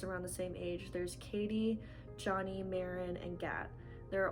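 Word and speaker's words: Cady: you say her name her name is cadence and they shorten it to katie c-a-d-y i can't imagine how else that would be pronounced besides katie anyways um every summer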